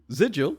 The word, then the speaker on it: sigil: Sigil, stroke Ziggle, is pronounced with the voiced velar plosive. I'm reading this verbatim, by the way. This is just not... Obviously. So it is the G as in get, ground, or wriggle.